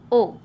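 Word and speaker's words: を: इस लेसन का first grammar point है ओ। हिरागाना में इसका साउंड है वो, पर जब भी हम सेंटेंस में इसे पार्टिकल की तरह यूज़ करते हैं तो उसका प्रोनाउंसिएशन हो जाता है ओ।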